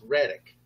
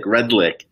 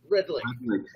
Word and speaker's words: Redlich: We were just talking about how I butchered your name. It's Reddick, right? Redlich. Redlich.